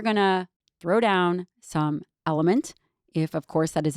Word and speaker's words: LMNT: me just tell you element which is spelled lmnt is now making for